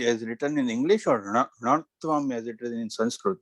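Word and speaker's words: ṇatva: So it's not ṇa-tvam, like ana, but it's just ṇa-tvam, but your tongue should go up. So you're on the correct flow, but it's still pronounced ṇa-tvam, where your tongue goes up.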